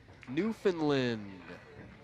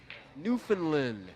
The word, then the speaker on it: Newfoundland: Newfoundland. Yeah. Not Newfoundland? Newfoundland. We newly found that land. Yeah, well, yep. Newfoundland.